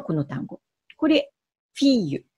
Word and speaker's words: fille: のが神父らずにー l の発音なんですね例えば女の子という意味のこの単語これフィーユと読むんですだから今まで